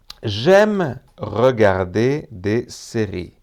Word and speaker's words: j'aime regarder des séries: J'aime regarder des séries. Y no, Jaime regarder des series.